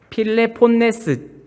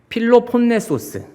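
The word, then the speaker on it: 펠로폰네소스: 가면 여기가 섬이 아니에요 필레폰 저도 발음이 잘 안 되네 필레폰네스 전쟁 이런 거 들어보셨죠 근데 여기 안에 필로폰네소스 죄송합니다이 안에 뭐 스파르타 전쟁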